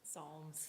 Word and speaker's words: Psalms: Psalms. Psalms, It's spelled with a P.